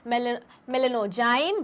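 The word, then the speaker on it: Meloidogyne: नाम पूछा नेमेटोड का, तो क्या नाम है, मेलेनोजाइन, वापस जी क्या है, साइलेंट, डी साइलेंट है। ठीक है, मेलेनो MELOI, तो मेलेनो DO सुनाई नहीं देगा पर जाइन, मेलेनोजाइन इनकॉग्निटा।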